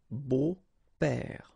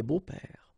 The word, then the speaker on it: beaux-pères: Okay, but then it's exactly the same thing because you don't pronounce it. Des beaux-pères. Okay, remember the s, but then it's silent. Des beaux-pères.